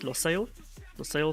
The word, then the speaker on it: Lusail: We are racing in Qatar tonight at the Lusail Circuit. I think it's how you say it, Lusail Circuit.